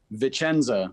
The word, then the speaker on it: Vicenza: Joining us live from, how do you pronounce it, Brandon? Vicenza.